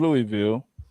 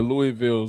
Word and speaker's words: Louisville: I'm gonna shout out the whole city of Louisville.